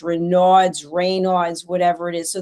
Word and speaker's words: Raynaud: But the thing is that I because you know, Raynaud's is French name. So, it was French. How do you say Raynaud? Yes, Raynaud. Raynaud. Raynaud. Le syndrome de Raynaud.